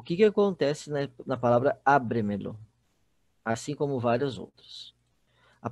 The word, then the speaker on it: ábremelo: Pode ser quinta sílaba tônica, tá? Por exemplo, a palavra ábremelo.